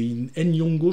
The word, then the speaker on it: Nyong'o: donc joué par Lupita, je prononce peut-être mal, je crois que c'est Nyong'o, je crois qu'il y avait un N séparé, je sais plus, je l'avais noté, effectivement.